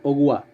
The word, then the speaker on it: agua: es más fuerte a agua a ver escuchen cómo suena la palabra agua agua a la primera sílaba sonaba fuerte a circula en la